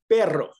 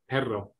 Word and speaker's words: perro: pera zero all right you roll it if there's two r's like perro perro perra herrera arrow you